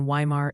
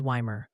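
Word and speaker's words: Weimar: And Wimar is Wymer.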